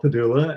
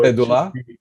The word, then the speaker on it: Pedulla: Well, it's an Italian name, and supposedly the original name had an accent at the end, which made the last syllable really should have been the accent. So Pedulla? Yeah, but we don't say it that way, and it just got anglicized, I guess.